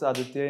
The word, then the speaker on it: Aaditya: Actually, when we pronounce Aaditya in Hindi, it starts with a matra of A. So, sir, my parents thought it prudent to put a double A in my name.